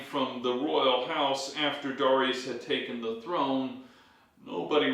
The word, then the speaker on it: Darius: Darius comes to power also pronounced daras pronounced a lot of ways I'll pronounce him as Darius when he comes to